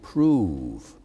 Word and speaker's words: prove: find out that love, that word prove was pronounced prov, and so love rhymes with prov.